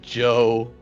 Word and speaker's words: Joe: No, it's pronounced Joe, but they keep calling me that. I didn't. It was pronounced Joe?